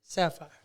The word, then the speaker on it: Saphyre: This person goes by the name of Saphyre. She is actually a rapper, R&B singer, everything. The ultimate entrepreneur that you will ever meet. I want you guys to welcome the one and only Saphyre.